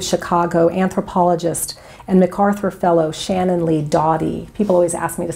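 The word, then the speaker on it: Shannon Lee Dawdy: about University of Chicago anthropologist and MacArthur Fellow Shannon Lee Dottie people always ask me to spell it it's da wdy who served as a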